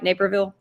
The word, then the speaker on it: Naperville: Naperville?